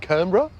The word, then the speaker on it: Canberra: be the pronunciation so I suspect she said combra um and and Canberra it has to become with two syllables now just stepping back